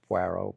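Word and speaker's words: Poirot: And then we we love what's pronounced. She calls Pero. It's Puero. But Hercule Puero.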